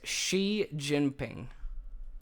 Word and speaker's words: Xi Jinping: Xi Jinping. So it's Xi Jinping.